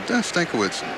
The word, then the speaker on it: Stankiewicz: And remember, we called up a guy named Andy Stankiewicz, and he came down and he said, "Is it Stankevich or Stankiewicz?" And he said, "Stankiewicz."